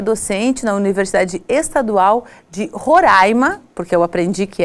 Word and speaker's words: Roraima: Comigo está o professor Robson Oliveira de Souza, ele que é docente na Universidade Estadual de Roraima, porque eu aprendi que é assim que se pronuncia e não Roraima, como a gente diz, e ele veio do